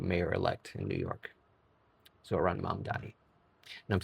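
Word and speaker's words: Zohran Mamdani: from our new mayor elect in New York, Zoran Matti. And I'm saying that more often so this way I can pronounce it correctly. Zoran mom Donni.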